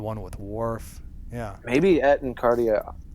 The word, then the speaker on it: Et in Arcadia Ego: with Worf yeah maybe at and cardia what Etna cardia ego right is the pronunciation yeah maybe it's a